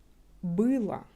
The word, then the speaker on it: было: But because of an accent, we will pronounce it like la. Это было.